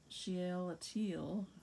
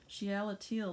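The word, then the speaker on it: Shealtiel: was the father of shiel ateel oh massacring that pronunciation sheela teal the father eliakim eliakim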